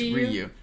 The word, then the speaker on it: Ryu: Ryu, by the way, if it's spelled like the fighters from Street Fighter, it's Ryu. Yeah, it's in Japanese it would actually be pronounced Ryu.